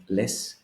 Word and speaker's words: λες: you see, εσύ λες, λες doesn't have an accent. That is because it is just one syllable. I have just one vowel. It's very short. It's just less. So I really don't need the accent to distinguish, as here, le, o, to have two syllables.